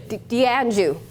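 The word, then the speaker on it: d'Anjou: Does anybody know how to say it? Danjo. How do you say it? Dianju. That's it.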